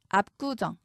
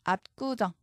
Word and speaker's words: 압구정: 된소리 되기는 반영하지 않습니다 압구정 비읍 받침 뒤에서 기역이 쌍 기역으로 소리납니다 압구정 된 소리로 변하죠 그렇다고 kk 적으시면 안